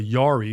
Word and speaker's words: Jari: He immediately said, so Blitz is a Yari, which is spelled Jary, bloodline dog, direct.